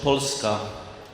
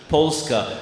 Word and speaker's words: Polska: the name of our country poliska can you pronounce it in Polish Polska and what this is Poland's how how do we do pronounce it Polska it's a very nice something work so you're